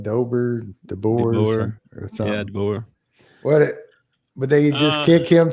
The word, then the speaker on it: DeBoer: Yeah, DeBoer.